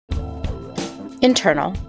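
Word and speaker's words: Intrnl: Internal, no vowels, pronounced internal, is the platform your creative team didn't know they needed until now.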